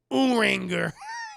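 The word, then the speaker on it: Urianger: One of the heroes you fight alongside with in Final Fantasy XIV is a guy named Uranger, pronounced Uranger. He's Anja. I'm going to call him Uranger.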